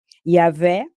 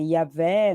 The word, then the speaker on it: Yahvé: é o caso de Yahvé, que não é Iavé, não se pronuncia assim, uns falam Javé, Iavé,